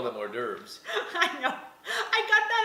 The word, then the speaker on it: hors d'oeuvre: I call them hors d'oeuvres.